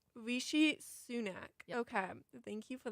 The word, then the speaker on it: Rishi Sunak: and I don't want to pronounce it wrong. I believe it's Rishi Sunak. Rishi Sunak.